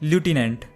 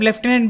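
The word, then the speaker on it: lieutenant: इसे अब लेफ्टिनेंट भी प्रोनाउंस किया जाता है। इसमें कंफ्यूज होने की जरूरत नहीं है। बेसिकली अमेरिकन इंग्लिश में इसे एज ल्यूटिनेंट प्रोनाउंस किया जाता है और ब्रिटिश इंग्लिश में लेफ्टिनेंट।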